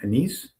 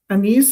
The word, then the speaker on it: anise: Anise? Anise is the correct way of pronouncing it. The other one is anise.